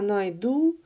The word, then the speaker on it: найду: So, я найду, I will find, with the stress on the last syllable.